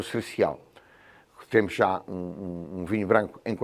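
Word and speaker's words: Sercial: No Dão existe o Cercial, ambos feitos escritos com C de cão. E há o da Madeira, que é Cercial com S. É a terceira casta Cercial, todas se pronunciam da mesma maneira, mas ligeiramente com caracteres diferentes.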